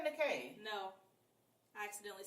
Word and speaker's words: Nikē: I said Nikē. No, I accidentally said Nike. She tried to irritate me because her name is spelled Nikē.